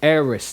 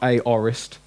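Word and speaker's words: aorist: now now we've got the eris tense ok eres that's how it's pronounced not a orest air is tense now this it basically means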